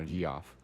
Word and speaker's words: Geoff: That's not Geoff. It's giraffe, actually. I've never known how to say that. How to pronounce it. Well, you said it right just now, Geoff.